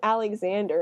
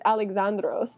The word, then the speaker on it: Alexandros: oh Alexander the Great his name wasn't Alexander it was alexandros there was there's no X in the Greek alphabet like his name was